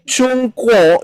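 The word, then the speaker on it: 中国: Cina Aneh kan ya I yang benar itu cungko negaranya ini adalah negara cungko bahasa Inggrisnya karena bahasa Inggrisnya gak bisa CH Jadi pakai Z zh zongo seperti itu ya Nah paham ya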